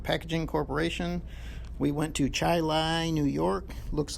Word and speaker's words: Chili: trip to american packaging corporation we went to chai lai new york looks like the word chile but it's pronounced chili american packaging also has a facility